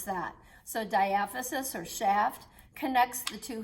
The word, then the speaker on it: diaphysis: The real name for shaft is diaphysis, is how you pronounce that. So diaphysis or shaft connects the two heads, proximal and distal head.